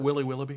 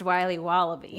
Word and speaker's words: Wiley Wallaby: Can I have a piece of that Willy Willoughby? Wally Wibbly. Wiley's Wallabies. Wallaby Wallies. Wilby Wallaby. It's pronounced Wiley Wallaby.